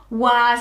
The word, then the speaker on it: was: show you why so if i sounded this word out it would say as was was is not a word it's the middle bit